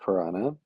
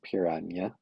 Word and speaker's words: piranha: Um, I like Piranha. I know it's not Pirania, but I do say it like that sometimes for fun.